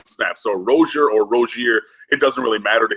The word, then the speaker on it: Rozier: to take your lead a few weeks ago rosier correct that's what he said but you know